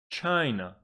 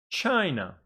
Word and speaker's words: China: for example chai no it's got two syllables but the stress is on the first Sy because the first one is bigger and so we pronounce this set as China please repeat after me